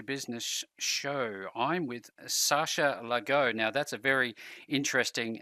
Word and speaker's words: Laghonh: I'm with Sasha Laghonh. Now, that's a very interesting name to pronounce.